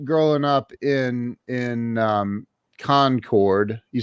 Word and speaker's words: Concord: up in in um concord you said concord that's correct not conquered it is concord when you're in court